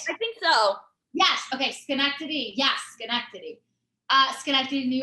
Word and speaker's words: Schenectady: city's name like i've been there before uh schenectady no there we go was that it i think so yes okay schenectady yes schenectady uh schenectady new york yes okay